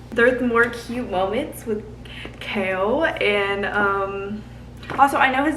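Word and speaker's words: Chaol: There's more cute moments with Kale and also I know his name is Kale, okay, but I'm pronouncing it Kale because that like there's an O in there for a reason.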